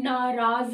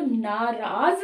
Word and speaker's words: नाराज: है ना कि तुम नाराज ना होना तो नाराज सही शब्द है ना कि नराज ऐसे ही सप्ताहिक नहीं